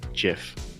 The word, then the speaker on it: GIF: and down so hey listen listen tonight it's pronounced jiff tonight on this show for me it's pronounced